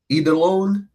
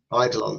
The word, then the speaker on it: Eidolon: So, for your heroes, you have I'm going to attempt to pronounce his name is Eidolone. Eidolone. Idolon. So, it's like an idol.